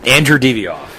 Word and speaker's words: Andrew Divoff: Andrew Divoff. Andrew Divoff.